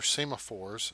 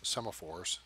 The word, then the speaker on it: semaphore: have railroads use this these are SEMA fours semaphores depending on who you are how you pronounce it and a control traffic